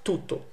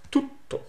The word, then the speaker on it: tutto: Not tutto, but tutto. You don't pronounce double consonants in English, but you always do in Italian. So it's a double T, as in a bit too.